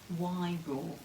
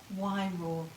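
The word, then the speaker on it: Wairoa: as w a i r o a is y raw so uh heather's father came from wyro in new zealand and i had a wonderful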